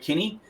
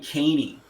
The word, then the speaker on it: Kinney: So Kinney gets my 2 points. And I want to pause here actually and ask, his name is pronounced Keanu Kinney. Yes. Am I? Yes, because Blocker Roach kept saying Keeney.